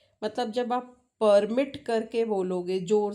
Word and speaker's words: permit: Permit is P. When you give stress on P, beginning wala P, तो वो permit document है. Suppose I say, I can't permit you.